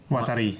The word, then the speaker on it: Watari: Watari. Waterloo. Yeah. Waterloo. He was a famous inventor, and Watari.